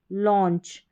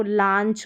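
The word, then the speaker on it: launch: Saucer, cause, pause, लॉन्च, इस तरीके से। अब इसको लांच करके नहीं पढ़ेंगे।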